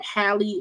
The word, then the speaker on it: Halle: Yes, Halle.